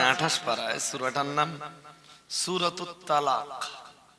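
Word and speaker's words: طلاق: দেখেন কোরআন শরীফের একটা সূরা আছে 28 পারায়, সূরাটার নাম সূরাতুত তালাক। তালাক আমরা যেটা তালাক বলি ওটা আসলে শব্দটা উচ্চারণ হবে তলাক। তৈ দিয়ে, তো তা দিয়ে না।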